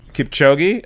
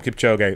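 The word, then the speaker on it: Kipchoge: say his name right I always say Julio gay is that the proper way to say it - I think it's ulid Kip Jogi Kip chogi okay Kip chogi I called him Kip Joe gay we're close Kip chogi and he broke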